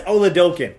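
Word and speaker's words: Oladokun: Okay, so it's Chris Oladokin. That's how I'm going to be pronouncing it. That is apparently how you pronounce it.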